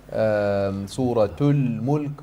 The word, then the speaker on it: Suratul Mulk: Suratul Mulk, pronouncing the ta and the lam al-qamariyah.